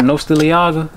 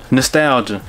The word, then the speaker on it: nostalgia: Nostaliaga? Nostalgia.